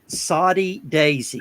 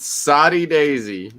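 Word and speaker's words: Soddy-Daisy: no greenlee lager is a good one but saudi daisy good old soddy daisy s-o-d-d-y daisy i have it they spell it up there in saudi daisy too soddy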